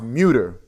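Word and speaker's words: Mütter: It's pronounced Muter. Muter Museum? It's a German Muter, I believe.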